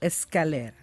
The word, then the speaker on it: Escalera: tonight we have a guest, Bolivian pianist Sergio Escalera. Is that the right pronunciation? Yeah, that's Can I do that? Actually. Sergio. Sergio, is that right? Perfect. Escalera.